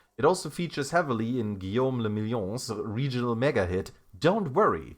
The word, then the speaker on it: Guillaume le Million: Guillaume le Million. Drama says, if it doesn't rhyme, you're not pronouncing it right.